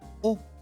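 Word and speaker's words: を: Aunque se escribe con el hiragana wo, se dice o como la vocal.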